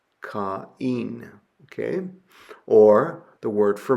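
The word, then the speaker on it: Κάϊν: You pronounce the two letters separately. So ca caen caen.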